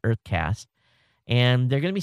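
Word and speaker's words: UrtheCast: There's a Canadian startup called Uthercast, pronounced Earthcast. Okay, U-R-T-H-E, Earth. Okay, it's spelled with a U, but they pronounce it Earthcast.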